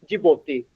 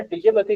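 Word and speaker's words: Djibouti: Mallya Adria Ethiopia and जिबोती आपने डीजेबत्ती नहीं कहना है जिबोती कहना है डी साइलेंट है इसमें जिपोती कहना है आपने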